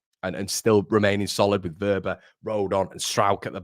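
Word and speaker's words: Wöber: It's pronounced Verber, Connor.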